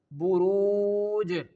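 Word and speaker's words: بروج: Here I am ending on this word Jim, and when we end any of the words or any of the word, the last letter will perform sukoon on it.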